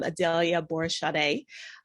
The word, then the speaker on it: Adalia Aborisade: by it but uh in the us if i'm saying my name i'm adelia borishade i am originally from